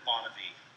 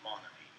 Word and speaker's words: Monavie: others pronounce the word Monavie. For me, it will always be Monavie.